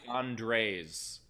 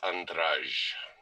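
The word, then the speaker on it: András: Is it Andres? Like it's more than one Andre. In Hungary, correct. It is Andraj.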